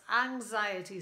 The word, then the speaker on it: anxiety: about is pronunciation and how do you say that X in the middle of the word? Well, it's ngs. Ngs. Neil, can you give me your ngs? Yes, it's that ng sound that we have in ing, I-N-G.